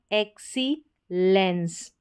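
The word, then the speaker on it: excellence: यहाँ पर है XEX को एक्स पढ़ा, एक्सीलेंस, एक्सीलेंस, एक्सीलेंस, उत्कृष्टता।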